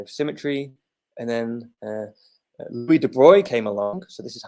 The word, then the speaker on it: de Broglie: And then Louis de Broglie came along.